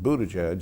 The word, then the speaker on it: Buttigieg: Now, former Indianapolis Mayor Pete Buttigieg, did I pronounce that okay?